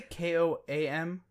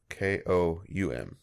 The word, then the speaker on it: Koum: to mispronounce that name, Koum, Koum, decided to move on amid reports he had a difference of opinion with parent company Facebook over data privacy. Did you say KOAM? Koum, sorry. Oh, okay. Koum.